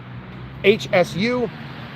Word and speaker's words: Hsu: It's pronounced Hsu, it's HSU. And there's an H just like my name.